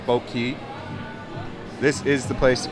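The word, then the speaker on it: Boat Quay: It's spelled, but it's Boat Key.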